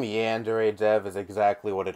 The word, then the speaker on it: Yandere: the fuck the word Yandere even meant. I always associated the word with this guy, and for the longest time I was pronouncing it as Yandir.